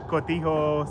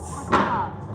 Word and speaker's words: cotija: And they all have different types of cheese like Chiapas cheese and Yeah, cotijos. Cotija.